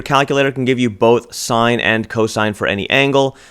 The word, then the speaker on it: sine: thing as as sin but it's pronounced as sine and so for the